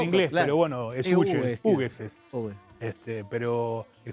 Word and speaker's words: Hughes: Pero a No su sé vez cómo no se depende pronuncia de en Scocco, inglés, claro. pero bueno, es Hughes, Hughes es.